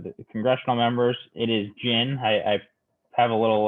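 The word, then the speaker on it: GHIN: a nice reminder here this is how it's pronounced just like the liquor so it is the gin system the h is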